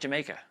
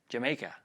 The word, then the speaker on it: D'yer Mak'er: going to do jamaica that's how they say i googled it i guess that's how you say it anyway supposed to sound like jamaica jamaica jamaica anyway so i didn't